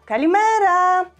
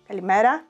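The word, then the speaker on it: καλημέρα: Kalimera, kalimera. And of course, you know, you can pronounce it differently. You can say kalimera, kalimera, kalimera, kalimera.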